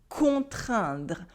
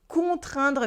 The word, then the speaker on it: contraindre: Try to repeat after me, contraindre. Contraindre means to force or to compel.